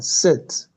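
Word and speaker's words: sept: 7, set. We see the T will not be pronounced.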